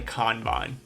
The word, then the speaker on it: Kanban: is it Canan or kbon if you're pulling the word from its original Japanese origin it's definitely kbon but Bes this is